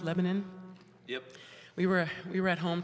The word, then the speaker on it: Lebanon: I learned from Adam, it's pronounced Lebanon.